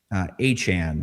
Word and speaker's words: Etienne: Saints paid market value for Travis Achan, by the way, it's not Etienne.